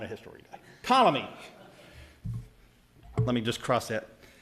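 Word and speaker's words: Ptolemy: Solus ruled Asia and pamy ruled over Egypt Palestine and Seria who oh the p is silent okay see not a history gu colomy let me just cross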